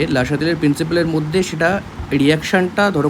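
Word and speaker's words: Le Chatelier: তো সেটা একবার দেখে নেওয়া যাক যে হোয়াট ইজ লা শাতেলিয়ার প্রিন্সিপাল, বা ইংরেজিতে এটাকে যদি মানে একদম আক্ষরিক উচ্চারণ করে তাহলে হচ্ছে লে চ্যাটেলিয়ার, বাট ওটা অ্যাকচুয়ালি কিন্তু উচ্চারণ হয় হচ্ছে লা শাতেলিয়ার প্রিন্সিপাল।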